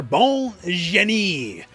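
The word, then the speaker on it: Bonne Jenet: Final character, Bon Jenet.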